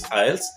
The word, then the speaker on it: IELTS: I know there are varied pronunciations of the acronym for English test. It's IELTS.